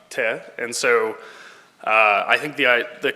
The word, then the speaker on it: Teh: It's pronounced Teh, and so I think the kind of the